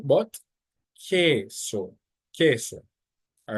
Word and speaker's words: queso: So for example, you don't pronounce the U, just the K. So it's not queso, no, it's queso. And this word means cheese. So not queso, but queso, queso.